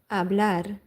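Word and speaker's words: hablar: So, to speak to speak English in French, Spanish abl the H is silent.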